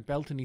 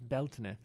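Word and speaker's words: Bealtaine: I mean right where I'm at here in Belton stone circle which means balina bal meaning the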